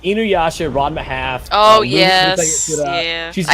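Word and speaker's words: Ranma ½: It's Ranma Half.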